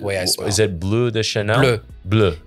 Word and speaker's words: Bleu de Chanel: Is it Bleu de Chanel? Bleu. Bleu de Chanel.